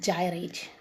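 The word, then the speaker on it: gyrate: GLE did gate children the word g y r a t e pronunciation is gyate ink blink in GLE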